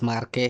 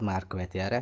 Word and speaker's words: Marquette: So this is the examples this Marqu or Marquet is Marqu is not Marquet Marquet is a English pronunciation is Marqu is French your name is French